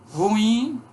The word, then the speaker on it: ruim: Ruim, pela ortoep é a pronúncia correta, né? Ruim, hiato.